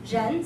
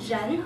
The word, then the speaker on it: 人: Ren, second tone, Ren, Mike.